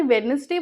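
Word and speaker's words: Wednesday: आईटी इस तू वेडनेसडे क्या आपने वेडनेसडे बोला नहीं इसमें बी साइलेंट है आई वुड लाइक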